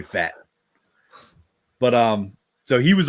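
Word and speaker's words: Pfaadt: yeah it is how how else would you pronounce it patit I don't know totally it's totally fat but um so he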